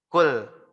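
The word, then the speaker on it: قُلْ: Qul. Qul yang benar pakai huruf qaf.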